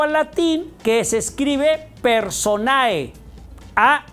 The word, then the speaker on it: personae: decimos o escribimos Perdón personae en latín Sí así se escribe personae pero no se pronuncia la e y entonces decimos